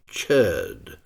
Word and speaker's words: chöd: the famous practice of chur. In an attempt to imitate the pronunciation, this word is often written with two dots over the o and umloud.